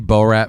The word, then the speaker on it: Borat: Do we have any Borat fans? Borat? Have we ever seen Borat? Like, never seen Borat. The guy with the gray suit. Borat. Yeah, Borat. Borat. Yeah. I thought you were saying Bo Rat.